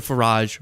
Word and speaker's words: Farage: Nigel Farage rhymes with garage is paring BFF Trump and people are disillusioned with the left.